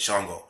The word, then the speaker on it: Shango: We got one way to pronounce Shango. We just said it, Shango.